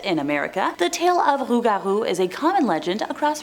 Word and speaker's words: Rougarou: Rougarou represents a variant pronunciation and spelling of the original French Lougarou, which is the version I heard about when I was younger at summer camp.